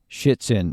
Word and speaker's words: Shitzen: It's Shitzen, and yes, that's how you pronounce his last name, as we figure out in the podcast.